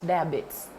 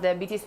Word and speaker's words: diabetes: So, a lot of people don't know that because as Ugandans in our accent would call it diabetes. It's pronounced diabetes, and it has types.